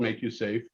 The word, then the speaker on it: MakuSafe: It's called Make You Safe, and it's really in the work comp space. And I won't go too much into that, but it's spelled MAKUSAFE, and it's a wearable